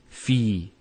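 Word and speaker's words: في: So the first word is fi. So you notice there's the elongation, the long vowel.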